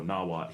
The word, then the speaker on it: Nawat: Um, and it was a Nawat region as is. Uh, so nawat here, n a w a t.